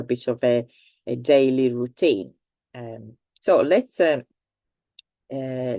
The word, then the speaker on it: routine: French originally French anyway it is pronounced like in English and I know that